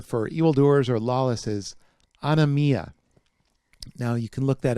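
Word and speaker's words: ἀνομία: the word there for evildoers or lawless is on amia now you can look that up in your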